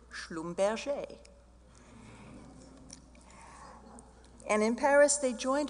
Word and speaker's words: Schlumberger: It was a Protestant family whose German side was Schlumberger. Now, once they went to Paris, they changed the pronunciation to Schlumberger.